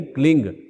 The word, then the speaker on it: क्लीं: और अपने बच्चों के लिए भी आप इसी मंत्र का उच्चारण करें, ओम ऐंग रींग क्लींग, सब में ग की ध्वनि है।